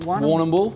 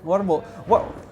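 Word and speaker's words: Warrnambool: How do I pronounce the town where you're from? Warnambool. Warnambool? That'll work, yeah, Warnambool. Warnambool.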